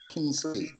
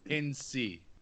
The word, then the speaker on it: Kinsey: is it Kinsey or Kinsley? Kinsey.